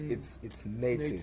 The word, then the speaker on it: Neitiv: It's not natives or it's not natives. It's Neitiv. Neitiv. So Yeah. basically, what you see on the chest of each and every merchandise, yaga Neitiv, it's the pronunciation ya Neitiv.